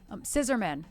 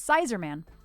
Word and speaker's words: Scissorman: Endo Warrior Endo sister scissorman scissorman like scissors got it not Sizer man scissor man okay got it got